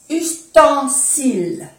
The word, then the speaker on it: ustensiles: Les ustensiles, E-N-A, ustensiles. No se pronuncia la S de plural, ni la E.